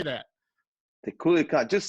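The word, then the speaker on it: Culiacán: The Culiacan.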